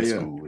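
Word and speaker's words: Ionescu: Sabrina UNESCO, I think is. Yeah, UNESCO is how you pronounce it.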